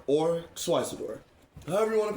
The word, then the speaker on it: Xyzidor: hard for me to pronounce, sorry. It's okay. It's Xyzidor, that's right.